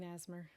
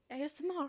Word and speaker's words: ASMR: it mean asmer well how do you say it you a you say all the seems like such a waste of energy to say all the letters there's only four of